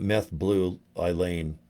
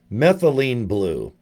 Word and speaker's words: methylene blue: I called it meth blue Eileen. Or whatever this is. You can post about, how do you say it? Methylene blue.